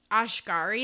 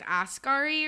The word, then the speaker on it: Asghari: I said Sam Ashgari, and I think it's Asghari, or I don't even know.